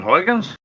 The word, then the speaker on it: Huygens: Christian Huans.